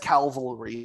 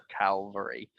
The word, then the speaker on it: cavalry: they are the best cavalry in the game calvary say it properly it's cavalry it's cav not cal calvary it's the hill that jesus did his thing on um you're not you're